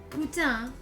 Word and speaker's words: putain: Qu'est-ce que Putain. c'est? Putain. On the same. Putain. Putain. So I'm getting other like conflicting. Putain. I love it. This will be useful. No, last syllable. So it's putain.